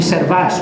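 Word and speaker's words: Servaes: era del otro lado, no digas Servet que se revuelve en su tumba, di Servas. Bueno, ya aprendí cómo se dice Servas, Albert Servas, pintor expresionista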